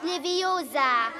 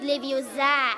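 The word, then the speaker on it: Leviosa: das Auge aus und übrigens hast du die falsche Betonung es heißt liviosa und nicht liviosa und genau deswegen hat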